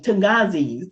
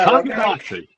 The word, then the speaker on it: Tonganoxie: Mike lives in, oh gosh, I hope I can pronounce it correctly. Tungazi, I think it is, Kansas. You correct me, Mike, once you get to your turn. Tonganoxie. Tonganoxie, thank you.